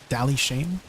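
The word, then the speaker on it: Dali Shain: just regular light stones to an NPC called Dally Shane. And he's located in most towns. It's spelled D A L I.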